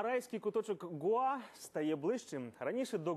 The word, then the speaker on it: Гоа: Гоа а в Гоа куди у слові Гоа ставити наголос теж не зовсім Ясно гуа- это не остров потрапити на Гоа правильно вимовляти все-таки Гоа але все це умовності